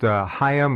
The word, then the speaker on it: Higham: Higham, pronounced Higham or Higham, however you will.